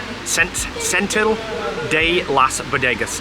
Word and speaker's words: Setenil de las Bodegas: Right, so to give you a few of the facts on Setenil de las Bodegas, I finally said it right.